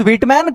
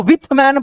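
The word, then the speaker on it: Whitman: अच्छा हाँ, एक चीज और, ये जो व्हिटमैन है ना, व्हिटमैन, इस व्हिटमैन को विथमैन पढ़ा गया है।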